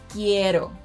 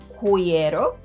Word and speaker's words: quiero: In these cases, letters q and g silence letter u, but they need it to make those k and g sounds in front of letters e and i. If letter u were pronounced in these words, they would sound like qüeso, qüiero, güerra, and güiso. But those are words that don’t exist in Spanish.